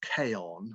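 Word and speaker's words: Chion: self publishing he'd uh written a book called k on which is spelled c-h-i-o-n so it's it's spelt chi on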